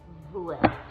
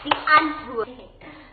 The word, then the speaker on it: Die Antwoord: It's called Die Antwoord. Name of our band is called Die Antwoord. Do you understand? It rhymes with... What does it rhyme with? Kant. Okay, so say Kant and then say Ant.